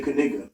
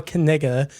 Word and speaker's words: Knigga: yeah it's C like it starts with a K and then you say it so you're supposed to say kiga yes exactly yeah so